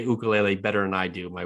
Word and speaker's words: ukulele: ready he's an aspiring ukulele player pronouncing that in the hawaiian way and most importantly a